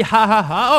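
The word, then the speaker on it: jaja: J is pronounced H in Spanish, so it's actually ha ha ha.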